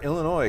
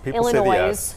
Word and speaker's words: Illinois: I think it's number four because people say the S. Illinois.